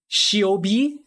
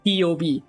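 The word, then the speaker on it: Ceobe: well by the community it's not uh shiobi it's not cob uh it's not whatever you think it is it's key ob like it's pronounced as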